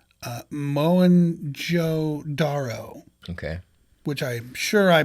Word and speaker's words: Mohenjo-daro: And it is called, I'm probably going to butcher this, but I believe it's pronounced Mohenjo-Daro.